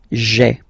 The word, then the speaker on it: j'ai: Okay, so just to avoid pronouncing this je, because we think that in French it doesn't sound that beautiful, so we tend to take this away, okay, so that you get this sound j'ai, j'ai.